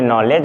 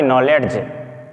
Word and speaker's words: knowledge: और ये नॉलेज होगा, न कि नॉलेड्ज, है ना।